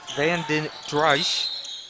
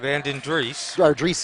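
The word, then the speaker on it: Van den Driessche: that's actually uh bandage trice vanden dreich ben andres van den driesse excuse me is pronounced please excuse me eric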